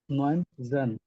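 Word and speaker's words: neunzehn: Artzen, হুম, No, 9 সেন, Neunzen, নট জেন, সেন।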